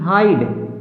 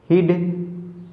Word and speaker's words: HIDE: ई क्यों बोला? देखो आई के बाद क्या आया है? ई, तो उच्चारण हमने क्या किया? ई। यदि हम ई को हटा देते हैं तो क्या बन जाएगा हमारा? हिड, हिड, लेकिन ये तो उच्चारण गलत होगा, हमारा शब्द ही गलत हो गया।